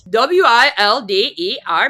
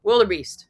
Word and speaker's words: wildebeest: w i l d e r b e a s t So, it is wildebeest. It's not wilder. Wildebeest. Wildebeest. Who thinks you're a wildebeest?